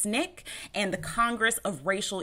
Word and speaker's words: SNCC: were the student non-violent Coordinating Committee SNCC pronounced Snick and the Congress of